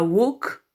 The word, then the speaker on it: walk: Au passage, attention à walk, on ne prononce pas le L.